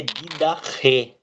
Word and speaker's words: Didaqué: Pois é, para mim a pronúncia correta é Didaqué, né? Porque ela tem um ri no final.